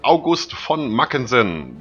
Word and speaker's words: August von Mackensen: generals have rallied behind the well-known Field Marshal August von mackensen there you go that's how you pronounce that for everybody watching I've heard that